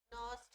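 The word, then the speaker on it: Nernst: हम लोग बोलते हैं नस्ट इक्वेशन नाम देखो थोड़ा स्पेशल है एनई आर ए एसटी एन बोलते वक्त साइलेंट रहता है न इक्वेशन एन ई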